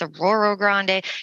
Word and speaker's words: Arroyo Grande: We make sure we know how to say things like Atascadero or, Aurora Grande, even though it's spelled Arroyo Grande, it's Aurora Grande, like those kind of things.